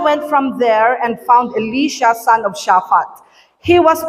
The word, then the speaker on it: Elisha: yung naturo sa akin, ang pag-pronounce ng pangalan niya ay Elisha. Yun pala, Elisha, kakabsat. Pakisabi nga, Elisha. Okay. Elisha pala ang basa, kakabsat.